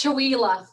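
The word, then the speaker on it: Chewelah: Can you pronounce that for me, Jennifer? It's Chihuahua.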